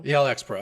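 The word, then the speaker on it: ElxPro: say elx Pro or how do you pronounce your company elx pro elx pro okay I have that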